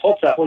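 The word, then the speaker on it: Holzapfel: That's Hosefel.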